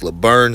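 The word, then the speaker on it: Laborn: Marshall kalon Laverne okay it looks like Le Bourne but I heard him he said he wants to pronounce Laverne so that's what we do um this running back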